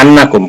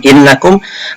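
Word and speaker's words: أنّ: Nah, di sini ada kata annakum. Kenapa dibaca annakum bukan innakum? Karena annakum di sini menjadi maf'ul bih daripada takhafun, ya, takhafuna.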